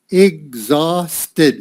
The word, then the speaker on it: exhausted: Exhausted. Whoop, this is a Z.